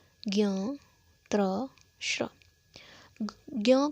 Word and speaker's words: ज्ञ: बात यह है कि जो ज्ञ है, हम इसका उच्चारण अक्सर आधा गो य ज्ञ के तौर पर कहते हैं, लेकिन हम देखें तो यहाँ पर हलंत ज का योग हो रहा है हलंत य के साथ और अ के साथ, तब ज्ञ बन रहा है, तो इसका वास्तविक जो उच्चारण है वो ज्ञ होता है, लेकिन लोक प्रचलन में ज्ञ है, इसलिए विज्ञान को विज्ञान बोला जाता है, न कि विज्ञान।